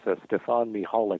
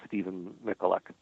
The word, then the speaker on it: Stefan Michalak: Well, if you pronounce it as the family pronounces it, it's Stefan Michalak, but everybody says it's Stephen Michalak.